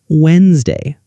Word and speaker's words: Wednesday: The word Wednesday, we write we e d n e s d a y, but most people say Wednesday.